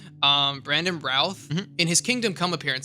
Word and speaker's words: Routh: at him like he's nothing like if Brandon Ruth later Brandon Ralph Ralph so I I'm sorry I it's one of those things where I see it phonetically I never read it correctly um Brandon Routh in his kingdom come appearance that you showed